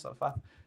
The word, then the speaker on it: Zarephath: Zarephath.